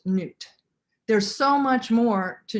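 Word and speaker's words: Nut: outside of newt and her name is spelled n-u-t but it's pronounced newt there's so much more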